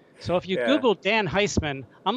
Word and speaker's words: Heisman: And I'm like, if you Google, Dan Heisman's not the most common name. So if you Google Dan Heisman, I'm like the entire first page of Google.